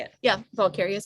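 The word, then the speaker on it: Valkaria: dirty bingo, but Monday during the day, that's when we Went to, went to Valkyria Airport. I think that's how you say it. yeah, Valkyria is correct.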